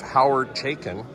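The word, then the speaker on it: Howard Chaykin: We're here at CalComicCon, and I'm here with Hoyward Chaykin. Am I pronouncing your name correctly?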